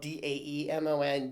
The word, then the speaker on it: daemon: Greek, the word demon, usually spelled D-A-E-M-O-N, daemon, but actually pronounced pretty much a demon in the Greek, it means spirit.